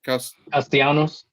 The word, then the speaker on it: Castellanos: Castellanos.